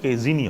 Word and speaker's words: casein: উচ্চারণটা কেজিনই হয়, জ এস নয়, ঠিক আছে?